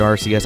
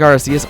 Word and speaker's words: Arceus: We want to take Arceus on over to the left. And yes, I know I'm pronouncing it Arceus and not Arceus. It's an old habit, man.